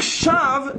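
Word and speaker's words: שוא: Le Baal HaTurim explique, dans la mesure où ce Aleph, on ne le prononce pas, il s'écrit mais on ne le prononce pas, les allusions c'est la folie, on l'écrit mais on ne le prononce pas, on peut lire Shav, néant, même sans le Aleph, puisque c'est une lettre non prononçable.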